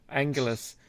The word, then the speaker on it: L'Angelus: show this is lounges let angeles angelus from i don't think you pronounce the apostrophe mate just point that